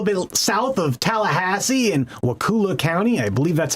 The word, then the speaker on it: Wakulla: Sop Choppy, a little bit south of Tallahassee in Wakulla County. I believe that's how you pronounce that. It's Wakulla.